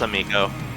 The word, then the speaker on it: Amico: Yeah, I remember they in the like promotional material for the Amico or however you pronounce it. It's Amico.